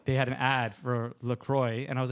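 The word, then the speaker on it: LaCroix: was calling them the Avid brothers or like lacroy the sparkling water yeah lroy we I we're all we're in Canada so it's pronounced lroy I always I called it laqua for the longest time calling it La this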